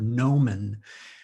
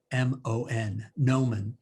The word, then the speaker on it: gnomon: before i wrote this poem it's the word nomen uh it's spelled g-n-o-m-o-n nomen and you all know what a sundial is